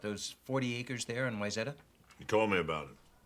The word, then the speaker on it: Wayzata: was that a wrong they say wayzada but obviously it's wayzata and obviously because the